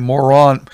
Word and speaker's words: Moroni: So, had to bring down a golden plates from Moron Eye, the angel. Well, they call him Moroni, but it's spelled M-O-R-O-N, I. Yeah. Moroni, Moron Eye.